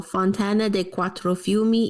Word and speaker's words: Fontana dei Quattro Fiumi: Here's the how do you pronounce this one, Lisa? Oh, Fontana dei Quattro Fiumi in Piazza Navona.